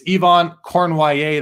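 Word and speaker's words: Yvon Cournoyer: You look at his name, it's Yvon Cornwallier. That is how you say it.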